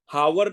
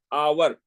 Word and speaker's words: hour: ठीक इसी तरह घंटा को HOUR, हावर नहीं होता, हावर। हा की आवाज नहीं निकल ली, आवर, आ की आवाज निकल ली।